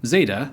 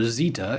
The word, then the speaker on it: Zeta: Next is, perhaps surprisingly, Zeta, or Zeta in UK pronunciation.